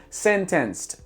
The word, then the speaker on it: sentenced: Sentenced, sentenced. Você está ouvindo aí 2 sílabas. Ele está falando 4 sílabas. Sentenced, sentenced, sentenced. É como um gringo falaria a frase sente sede, eu acho. Sentenced. 4 sílabas.